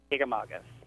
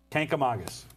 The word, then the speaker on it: Kancamagus: Right. Kancamagus. Kancamagus. Like Saugus.